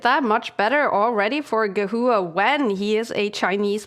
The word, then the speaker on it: Gehua: This is a very nice move by Gehua, if that's how you pronounce it. Gehua, yeah. Yeah.